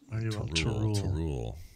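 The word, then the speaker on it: T'rul: Yes, T apostrophe RUL. Tarul. It does sound like a. Sounds like a Klingon, though.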